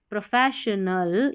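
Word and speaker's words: professional: Enhance यानी कि बढ़ाता है और बढ़ाता है, PRO इनहैंस, प्रोफेशनल, SSIONEL को शनल पढ़ेंगे, प्रोफेशनल यानी कि जो पेशेवर।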